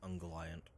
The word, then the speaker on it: Ungoliant: I believe it is pronounced Ungoliant.